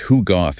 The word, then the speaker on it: Hugot: Right now, Hugoth spelled H U G- O T, but pronounced Hug Goth is the Filipino concept.